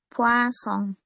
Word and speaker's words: poisson: Yang poison itu dibacanya poisson.